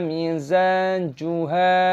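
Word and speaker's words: مزاجها: Kana mizajuha, "ha" itu panjang, panjangkan , ada tanda alif (mad thabi'i).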